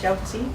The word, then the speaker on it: 饺子: jiaozi? Jiaozi?